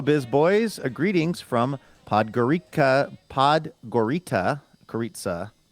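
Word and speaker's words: Podgorica: I should have moved this up, but there's a pronouncer in the first line of Laura's message. Podgorita.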